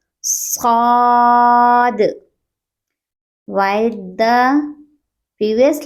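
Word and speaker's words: صاد: It has a thick sound. We will pronounce it with full mouth. Saad.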